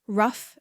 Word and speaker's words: rough: This rhymes with bluff and stuff. The words to learn are enough, rough, and tough.